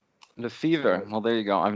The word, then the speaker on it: Le Feuvre: for the analogy, but it really is pronounced like the sickness, fever, Le Feuvre. Le Feuvre. Well, there you go. I've known you for years. It's not much fancier if you say Le Feuvre.